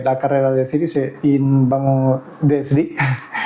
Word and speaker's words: Sri: Y hoy tenemos a Sri, Sí, Sri. Comúnmente pronunciado como Siri, malmente dicho, 4º grado de cinturón negro, si mal no me equivoco, y al cargo de Lotus Club en España.